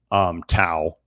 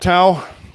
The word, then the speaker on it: Tao: Well, Tau, we're really glad to have you, and I do notice you on Twitter with some of your posts.